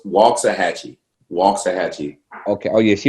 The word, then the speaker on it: Waxahachie: It's spelled wax, but it's a long A, so it's Waxahachie.